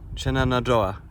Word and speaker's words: Shenandoah: Shenandoah.